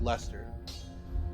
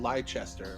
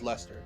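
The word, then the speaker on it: Leicester: i'm pronouncing that correctly i think that's how my dad used to say it was lester i thought it might have been lychester or whatever but obviously i don't know the correct pronunciation but i think it's lester that's where like all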